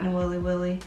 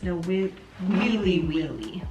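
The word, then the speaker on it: Nawiliwili: No Willy Willy. I looked up the pronunciation, 1031. Okay. It's no Willy Willy with E's. No Wheelie Wheelie, Oh, according to the internet.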